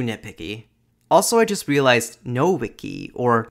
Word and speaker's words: Nowicki: Also, I just realized Nowicki, or Nowicki, as it should be pronounced, is a very Polish surname, which explains W for V, Y as a vowel, and the Islamophobia.